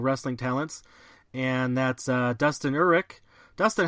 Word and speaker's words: Uhrich: of my local wrestling talents, and that's Dustin Uhrich. Dustin, how you doing? I'm doing pretty good, man. And I gotta correct you because nobody can say it, Uhrich.